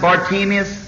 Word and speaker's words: Bartimaeus: our uh friend tonight as we know him as barus some pronounce it bartimus while we find him